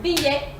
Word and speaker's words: billet: Or billet, billet, billet, billet, which is ticket. The other way of pronouncing it is il, il.